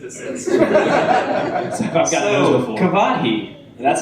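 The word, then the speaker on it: Kvothe: Kavahi. That's how you say it, right? Kavathi.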